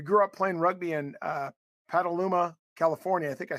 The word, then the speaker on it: Petaluma: You grew up playing rugby in Petaluma, California. I think I said it right. Correct? Petaluma?